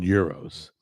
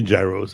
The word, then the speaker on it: gyros: It is euros, right? Okay. A lot of people say gyros. And I know what they're talking about. I don't correct them.